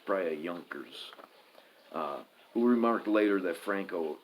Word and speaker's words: Junkers: chiefly affected by the Junkers 52 sent by Hitler. And you probably don't pronounce that J. It's probably a Junkers.